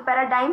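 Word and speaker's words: paradigm: इसको पर डा बेबी यहां पर आपका साइलेंट है ठीक है तो पैराडाइम हो जाएगा नॉन वर्ड है और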